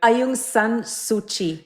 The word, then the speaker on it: Aung San Suu Kyi: Aung San Suu Kyi.